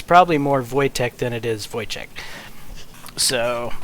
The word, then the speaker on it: Wojtek: than a Czech thing, then it's probably more Wojtek than it is Wojciech.